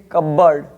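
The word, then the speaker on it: cupboard: autumn column इस प्रकार यहां पर कुछ वर्ड ऐसे हैं जिसमें पी साइलेंट है क इसे कबर्ड शैडो सिटिक साइकोलॉजी इस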